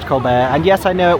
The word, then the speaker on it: Colbert: The entrance is round this way just past the theater that I affectionately refer to as the Colbert. Yes, I know it's pronounced Colbear.